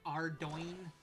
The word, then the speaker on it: Ardougne: Like I think Ardougne is technically supposed to be pronounced like Ardoin or some crap like that, and it's like, nope.